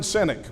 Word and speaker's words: Sinek: You know, there's a business consultant, motivational guy named Simon Sinek, which I think that's how you pronounce his last name, which is kind of funny for a motivational guy, right?